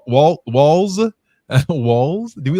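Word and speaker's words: Walz: selected Minnesota Governor Tim Walls as her running mate not to be confused with Waltz it is a silent t and a for the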